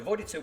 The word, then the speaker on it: Vodice: I've looked it up, and according to Google Croatian translation, it's pronounced Vodice. So Vodice was first mentioned in 1402, although it was founded already in the Roman times as Arausa.